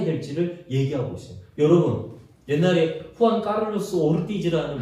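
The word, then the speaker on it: Juan Carlos Ortiz: 여러분, 옛날에 후안 카를로스 오르티즈라는 목사님, 이게 본토 발음이에요. 남미 본토.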